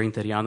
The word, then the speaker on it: Interiano: next card we have is from in interino I apologize if I'm not pronouncing it correctly hi everyone good evening uh my name is inano and I work for the faculty Association um